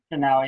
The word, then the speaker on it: Chanel: Is that how you say it, Chanel? Chanel, yeah.